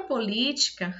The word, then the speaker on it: política: Na palavra política, a sílaba tônica é o li, já está acentuada, né? Nem precisa bater cabeça. Então, o li é a sílaba tônica, ela está em que posição? Vamos contar. O ka está na última, o ti está na penúltima e o li na antepenúltima.